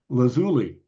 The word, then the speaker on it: lazuli: so they ask and here's the deal it's lazuli lazuli bunting Lazuli Bunting Lazuli Bunting so it's not lazuli lazuli with the accent on the zoo and it's not lauli